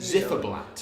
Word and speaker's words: Ziferblat: So we're here at how is it pronounced? Zifferblatt. We're here at Zifferblatt.